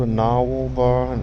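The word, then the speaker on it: Gnarwhal: this is called a narwhal bar and it's it's spelled with a g not like the whale now or it's gn jones guy is one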